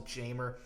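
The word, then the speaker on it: Jeimer: but everyone calls him Jamer. Well, he's from, I don't know where he's from, the Dominican Republic or somewhere like that, but everyone pronounces it with the hard J.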